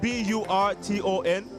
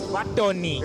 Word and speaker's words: Burton: Now we're out here with Burton, spelled B-U-R-T-O-N. In Zambian, it's Burton. It's Batoni. It's Batoni. Yes, in Zambia, it's Batoni.